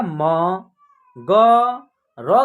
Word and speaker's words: मगर: कीजिएगा ऐसे उच्चारण कीजिएगा म ग र का लास्ट वाला में मात्रा नहीं है तो इसका उच्चारण र र ऐसे होगा मगर ठीक है इस प्रकार